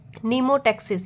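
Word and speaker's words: mnemotaxis: निमोटेक्सिस। ये क्या है? एम यहां पे साइलेंट है।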